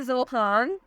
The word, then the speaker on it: Zohaan: नाम है जोहान, spelling है ZOHAAN।